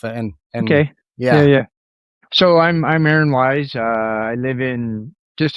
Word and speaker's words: Aaron: Aaron. Yeah. Aaron. Yeah. Aaron. Yeah. It's the typical way.